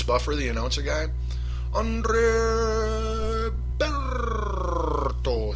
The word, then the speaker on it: Berto: last week against Andre Berto see that's like a way better name to say if you're Bruce Buffer the announcer guy Andre Berto see you got to really roll that R if you can um you know but